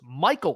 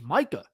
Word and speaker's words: Micah: The only time I saw him speak was to correct Jerry, who continues to call Micah Parsons Michael Parsons. And the only time he speaks is to say his name's Micah, not Michael.